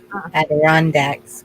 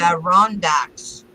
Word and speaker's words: Adirondack: The Adirondacks would be awesome.